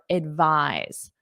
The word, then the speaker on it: advise: So now let's practice with the verb advise. First of all, pronunciation. The noun is advice. Advice. The verb is advise. Notice that voice.